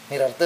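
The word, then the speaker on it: Nirartha: Nirarte, Nirarte bacanya.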